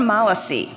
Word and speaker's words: Malasi: Ariane Malasi, I'm going to say it right. Ariane Malasi rhymes with policy.